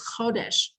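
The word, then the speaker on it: חֹדֶשׁ: It's spelled like the word chadash, even though it carries a little dot above the chet and it's pronounced chodesh, but it's really chadash.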